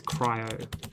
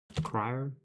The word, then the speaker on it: cryo: So, 0x, FF, FF, FF, FF is not white, it is cryo. See, cryo. That feels wrong. That doesn't feel like that's how it's spelled.